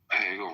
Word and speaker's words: Hegel: Greg Hegel rhymes with bagel.